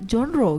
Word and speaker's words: genre: Oh, itu pronounce-nya genre gitu. Yes. Oh. Genre. Oh, genre. Ya kayak Bonjour. Perancis ya.